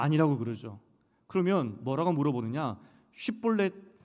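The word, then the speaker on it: שִׁבֹּלֶת: 근데 입다가 묘안을 발견한 것이 무엇이냐면 에브라임 사람만 발음을 다르게 하는 단어가 있었습니다.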